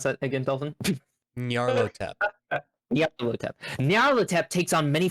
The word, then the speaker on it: Nyarlathotep: How do you pronounce that again, Dolphin? Nyarlathotep.